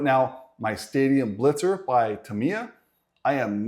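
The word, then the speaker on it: Tamiya: said the name correctly it's not Tomia it's tamama because I've been saying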